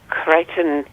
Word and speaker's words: Crichton: And then another thing, his first name is spelled Chrischton, and he's Crichton Edward McGregor Miller.